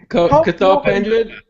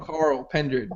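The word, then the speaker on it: Cathal Pendred: cathal pendri M Goldberg Mike Goldberg was mispronouncing cathal pendri name he kept calling him Carl pendred all night all the whole night even though Joe Rogan kept saying it kind of correctly sitting right next to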